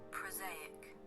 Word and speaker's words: prosaic: Read the pronunciation, you bitch. Prosaic? Prosaic.